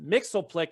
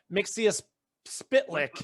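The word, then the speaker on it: Mxyzptlk: It's pronounced Mixoplex. It's not Mixius Spitlick.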